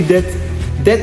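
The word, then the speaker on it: debt: Donc évitez de d'apprendre les mots sans sans la prononciation. Par exemple, lorsqu'on écrit dett en anglais ça on est en anglais on écrit dep mais le B le B est mieux.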